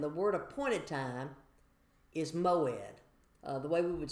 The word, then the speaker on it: moed: There is an appointed time and and the word appointed time is moed. Uh the way we would spell it in English would be m o e d.